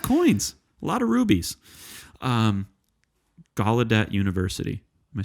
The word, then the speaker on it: Gallaudet: Gallaudet University. Am I saying it right? Yeah. It's not Gaudelet, right? It's the G-A-L first.